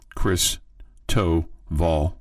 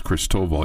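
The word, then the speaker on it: Christoval: And I got a better pronouncer for the team that they're playing, Cristoval, like Chris Toval, but it's Cristoval.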